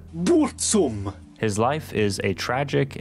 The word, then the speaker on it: Burzum: records under the name Burzum, or as he pronounces it, Burzum.